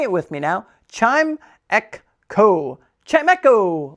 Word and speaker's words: Chimecho: For everyone's favorite segment of the day, Pokemon pronunciation of the day. Chime, ek, ko.